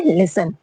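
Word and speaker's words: listen: जैसे लिसन में क्या है spelling? L आई एस टी ई एन। लिसन। लिसन मी्स क्या है? सुनना। लेकिन क्या है? यहां पे टी साइलेंट है।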